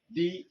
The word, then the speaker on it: the: এই শব্দটির উচ্চারণ হবে দা।